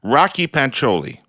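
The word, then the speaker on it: Rakhi Pancholi: the Alberta NDP leadership candidate's name is properly pronounced Rocky pancholi have I got it you did it Jordan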